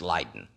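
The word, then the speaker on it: Leiden: ourselves across the sea to the Village of leaden in Holland sometimes pronounced lien in the University there was a professor by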